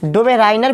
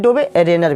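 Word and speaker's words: Döbereiner: इसको उच्चारण में लोग डोबेराइनर भी बोलते हैं और हिंदी में डोबेरेनर भी, तो आप इस उच्चारण में कन्फ्यूजन नहीं होइएगा।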